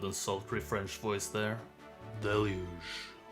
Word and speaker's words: Deluge: English delu de lu stress on the first syllable a wonderful smooth and sultry French voice there deluge sounds wonderful it apparently means a lot of something most notably rain or water.